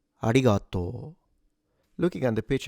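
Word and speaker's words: ありがとう: Ah starts at a low pitch. It goes up onto a higher pitch with ri and then goes down again already at g. The rest is low. A ratoto.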